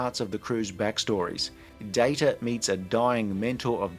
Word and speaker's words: Data: good as they got it is pronounced data oh you called me data what's the difference one is my name the other is not the data on the